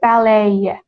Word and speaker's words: ballet: But the pronunciation is ballet.